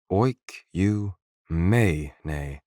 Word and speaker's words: oikumene: Oikumene, pronounced oik-you-may-ne.